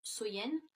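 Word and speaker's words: Samhain: nuit de l'année donc était samen donc qui est prononcé qui se prononce Soyenne.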